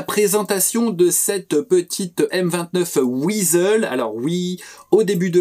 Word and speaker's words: Weasel: de cette petite M29 wizzle alors oui au début de la vidéo j'ai eu un réflexe de prononciation je les prononcé à l'allemande j'ai dit visole donc comme ça ça